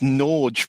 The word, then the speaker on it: Norge: seem relevant here how is Norge pronounced okay come on then um it turns out it just means Norway and Norwegian which is fair enough to write on the side of one of your helicopters I supp and it's pronounced nor okay uh I I I